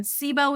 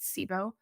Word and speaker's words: SIBO: the body corrects itself um that's pretty common sibo is another one it's kind of a buzz